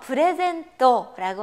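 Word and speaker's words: プレゼント: 프레젠토라고 하는 가타칸으로 쓰여지는 이 단어 선물인데요. 프레젠토, 프레젠토라고 발음이 되고요.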